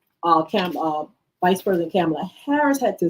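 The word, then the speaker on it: Kamala Harris: handshake but she told him her name and pronounced it the way it's supposed to I'm camela Harris to know let's go let let me get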